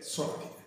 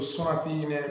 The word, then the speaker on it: Sonatine: Che penso si pronunci proprio Sonatine perché è giapponese e dovrebbe essere piana la parola.